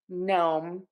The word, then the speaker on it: gnome: of silent letters here k-n-g-n and p n at the beginning of a word are always going to have assignment letter and we're just going to say that n so k-n-n knife GNN gnome and PN in pneumonia